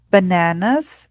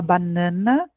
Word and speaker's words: banana: As maçãs, apples, bananas. Percebam que aqui a gente não fala banana, como a gente fala no português, é banana.